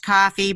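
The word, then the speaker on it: Ko-fi: I moved over to it's pronounced coffee but it's spelled in the stupidest way ko - fi dot-com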